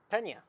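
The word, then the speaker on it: Peña: favorite against uh penna i don't know where the at where the emphasis uh so i'm sorry if i mispronounced your name let me see this clipboard for a second and it's pena pena there you go yeah and yang that's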